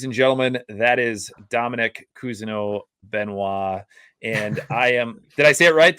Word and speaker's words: Cousineau-Benoit: it um ladies and gentlemen that is Dominic keno benois and I am did I say it right